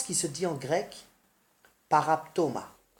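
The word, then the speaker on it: παράπτωμα: L'offense qui se dit en grec paraptoma. Paraptoma, P-A-R-A-P-T-O-M-A, et qui signifie déviation de la vérité ou alors méfait.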